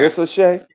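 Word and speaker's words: Risacher: For me, I heard you guys talk about Clingan and these big guys and Sarr and Ricochet. Am I saying it right? Yeah. Ricochet.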